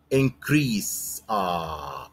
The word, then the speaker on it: increase: Increase. خلي بالك بقى المرة الأولانية تنطقها إيه؟ Increase لأنها كانت verb لكن هنا increase لأنها noun. Throughout the year.